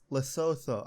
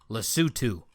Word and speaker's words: Lesotho: ah but uh yeah ah how do you pronounce it uh less Lesotho I that's my guess I'm trying to find pronunciation all right Lesotho let's let's do oh yeah yep it is